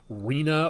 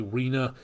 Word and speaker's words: Rina: r name storm or Rina or Reina depending on how you pronounce that but I believe that again r-i-n-a Rena so that following in Philippe